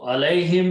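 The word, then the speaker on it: عَلَيْهِمْ: Okay, when you write them together, this Ya will be written as Alay, and the whom will pronounced as him. Okay, so Alayhim means regarding them or about them or for them.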